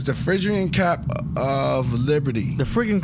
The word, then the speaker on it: Phrygian: How you pronounce? What's that? Farragut? Is it Farragut? Phrygian? Phrygian? Yeah. It's the Phrygian cap of liberty.